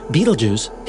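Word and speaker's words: Betelgeuse: literally at any moment the massive star Beetlejuice yes that's really how you say it it's a glorious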